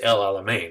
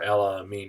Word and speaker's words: El Alamein: North Africa campaign is El Alamein or el-amin depending on how you pronounce it this is November 1942